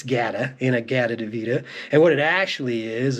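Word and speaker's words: In-A-Gadda-Da-Vida: old Iron Butterfly inagata deita which I've heard pronounced inagata deita many times I think I used to say it was in a deita for a long time but it's g in a g deita and what it actually is is in the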